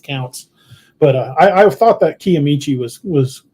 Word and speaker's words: Kiamichi: Tony here has pointed out, it says pronounced Kiamichi. I'm glad.